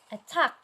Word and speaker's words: attack: Attack. Very good. A is the first syllable and tack is the second syllable.